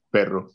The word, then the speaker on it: perro: How do you say, anyone else, how do you say dog in Spanish? So it's perro, yes, perro. Perro, okay, good. That was a nice pronunciation, perro.